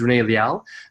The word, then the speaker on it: Rene Liaw: And again, my name is Rene Liaw.